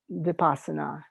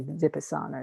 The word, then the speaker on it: Vipassana: opposite of that is vipassana and or i should say dipasana is really how you pronounce it um the opposite of